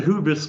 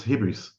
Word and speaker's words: hybris: Wasn't it pronounced hybris? Maybe I mispronounced the old Greek. It's like old Greek physis is written with a U, but it's not physis, it's physis. And I think that the original, the proper way to pronounce that one is it's hybris.